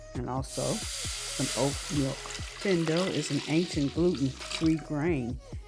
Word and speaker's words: fonio: Today we're going to be making some saucy shrimp and fonio grits. That is the way the Americans pronounce it. But in Mandinka, it's pronounced findo.